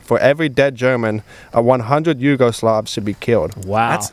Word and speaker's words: Yugoslavs: But September 17th, 1941, Hitler orders that for every dead German, 100 Yugoslavs should be killed. wow. That's insane. That's crazy. Did I pronounce that right?